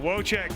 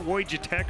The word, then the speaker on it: Wojtech: No, I know exactly what you're saying, but Wojtech, man, his dad made sure that I knew how to say his name correctly. It's not Wojtech or anything like that. It's Wojtech, and I'm sure a lot